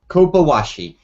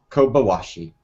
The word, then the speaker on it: Kobayashi: you can start us off with the correct pronunciation of the map we're going to discuss first and foremost. Well, here I go. Kobayashi. Dr. Kobayashi's map. Okay, so that's Kobayshi. So that's Kobayashi.